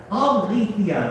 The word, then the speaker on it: Alethea: Is it Alethea? Alethea, there we go.